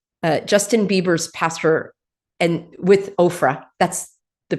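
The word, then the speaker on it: Oprah: So here's this pastor, Justin Bieber's pastor, and with Ofra. That's the pronunciation I use.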